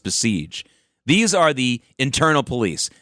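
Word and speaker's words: Basij: These IRGC people, these besiege, it's called besiege. Bas is how it's spelled pronounced besiege.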